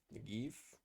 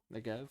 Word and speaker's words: Negev: Negev? Negev.